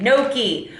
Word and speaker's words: gnocchi: I think, yeah, you don't say the G. Gnocchi.